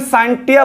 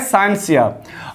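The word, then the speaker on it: scientia: साइंटिया से हुआ है, और एक्चुअली NCERT या फिर लैटिन में इसे साइंटिया बोलते हैं, लेकिन एक्चुअली इसका जो प्रोनाउंसिएशन होना चाहिए वो है साइंसिया।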